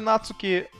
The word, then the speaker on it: Нацуки: В японском нет ударения, но есть высота звука. Так слог «на» в слове «нацуки» ты должен говорить громче, чем «цуки», иначе неправильно.